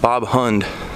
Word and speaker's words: Bob Hund: this Swedish band called Bob Hund. And if you've never heard Bob Hund, look it up. It's spelled exactly how it sounds.